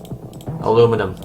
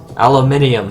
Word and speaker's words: aluminium: Aluminum. Ew, I pronounced it gross. Aluminium, there we go.